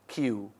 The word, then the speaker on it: queue: It's a queue. It is pronounced queue.